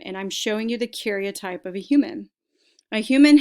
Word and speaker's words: karyotype: need you to write down is the word karyotype karyotype that's what you're looking at right now